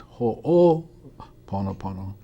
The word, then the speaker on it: Ho'oponopono: going to tell you the correct way to pronounce it it's ho oh ponopono and what does hoponopono mean hoponopono means to